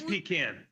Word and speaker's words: Pekin: It is Pecan.